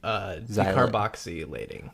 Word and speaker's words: decarboxylating: Decarboxylating. I think that's supposed to be decarboxylating.